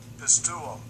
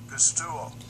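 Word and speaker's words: pisteuo: Pistuo. Pistuo. So I like using Blue Letter Bible app for that to get the pronunciations. Pistuo. See, I was saying all these words all wrong.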